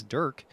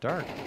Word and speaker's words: dvrk: the pronunciation of dvrk apparently it's Durk not dark DK okay so hear